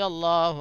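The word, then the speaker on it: الله: اللہ کا قاعدہ یہ ہے لفظ اللہ کا کہ اس کے اوپر اگر اس سے پہلے اگر زبر یا پیش ہو تو وہ اللہ کو پر پڑھتے ہیں، منہ بھر کے اللہ اللہ ایسے پڑھتے ہیں.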